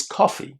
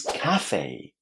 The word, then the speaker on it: cafe: It sounds just like the first letter of the English alphabet.